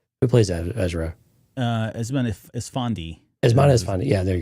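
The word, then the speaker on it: Eman Esfandi: Emin Ezrani. I can never pronounce his name right. Who plays Ezra? Esmond Esfandi.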